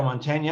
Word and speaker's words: Mantegna: of cyberspace Ronnie marmo and the fabulous Joe Montana and it is um did I pronounce that right Joe is it m that's